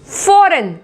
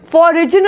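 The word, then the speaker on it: foreign: फॉरेन, फॉरिजन नहीं बोलेंगे या फॉरिजन नहीं बोलेंगे, फॉरेन, फॉरेन। Rain, rain, raisin नहीं बोलेंगे, मतलब शासन करना, रेन।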